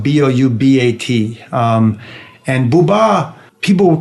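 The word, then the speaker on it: Édouard Boubat: Edward booba the great French photographer his name is spelled Bo you be 80 and booba people called him a peace correspondent not a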